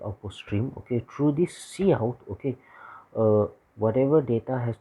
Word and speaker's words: cout: c out okay so you can pronounce it as c out okay object sends to